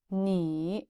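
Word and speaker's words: 你: Ni. This is a 3rd tone. Ni. It's like the zombie voice. Ni. It means you. 跟我读, read after me. E. Ni.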